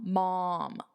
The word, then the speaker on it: mum: I want you to notice that the pronunciation is slightly different here. Um, notice my mouth. Um, mum, mum. But here, mum. Um, um, it's more of an unstressed mum.